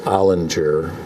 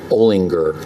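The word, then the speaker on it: Olinger: It's called for years and years and years, I always thought it was pronounced Ollinger, but I was reading the introduction to this book. It's actually pronounced Ollinger. It's a Pennsylvania pronunciation.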